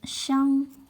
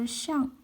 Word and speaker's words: 相: This is a polyphone. It can be pronounced as xiāng or xiàng. As xiāng, it means each other or one another. As xiàng means appearance. Picture.